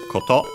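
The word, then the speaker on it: こと: After that we had koto, which is another nominalizer for verbs, similar to no. Koto means on its own accent on the last syllable, means thing as in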